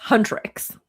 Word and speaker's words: Huntrix: Huntrix. I do believe is how you say it.